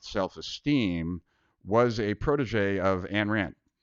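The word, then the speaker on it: Ayn Rand: was a protege of an rant or eine rant if you want to pronounce it correctly and Nathaniel Branden has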